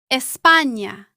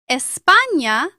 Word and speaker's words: España: Its sound is similar to the N-Y combination in the English word canyon. Listen to these examples. Niño, año, España. Niño means boy or child. Año means year. España means Spain.